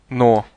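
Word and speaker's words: но: English listen no no the word but or no is similar to the English word no but it has a nasal sound at the end listen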